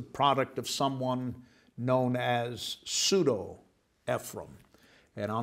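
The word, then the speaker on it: Pseudo-Ephraem: dash e p h r a e m pseudo ephraim is how that's pronounced and what that is the earliest extra-biblical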